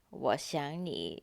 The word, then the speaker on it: 我想你: So three characters, they have the third tone. And again, in the middle, the verb 想, we pronounce it as the second tone because of the 你 after it.